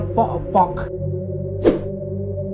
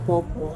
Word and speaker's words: Pok-Pok: Jadi hantunya namanya Pok-Pok. begitu pengucapannya. Bagaimana? Pok, bukan popo. Kalau di Makassar namanya popo.